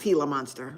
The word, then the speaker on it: Gila monster: It's Oh, it's pronounced Gila monster.